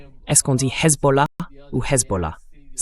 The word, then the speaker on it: Hezbollah: D'abord, il a dit Hezbollah. La prononciation correcte, c'est Hezbollah.